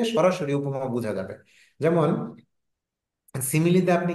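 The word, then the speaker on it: simile: খেয়াল রাখবেন একটা হচ্ছে সিমিলি আরেকটা হচ্ছে মেটাফোর অনেকেই সিমিলি বলে না সিমাইল বলে এস আই এম আই এল ই তো আমি বলি যে সিমিলি বললেই বানানটা মনে থাকবে সহজে তো মেটাফোর আর সিমিলি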